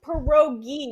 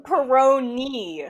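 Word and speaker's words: pierogi: It's perogi, not peri. Which one? It's perogi. P perogi. Okay, we keep saying peroni.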